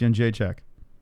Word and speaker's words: Jędrzejczyk: How do you pronounce Jędrzejczyk?